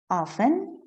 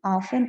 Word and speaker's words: often: Often, we can pronounce it in both ways too. Often or often, both are okay.